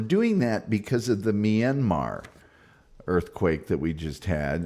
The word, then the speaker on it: Myanmar: That one in Myanmar, that's how I pronounce it. Some people pronounce it Myanmar.